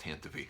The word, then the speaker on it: Tantive: Leia gets away in the Tantive 4, and I hate that it's pronounced Tantive.